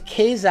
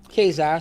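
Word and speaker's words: Ka-Zar: head it was it never was Kaiser I don't see why in that but you know to eat your own the creator said kazar so that's what here's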